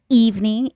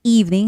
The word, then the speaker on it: evening: And um the word evening. Evening has the first syllable stress and then the word remember has the second syllable stress.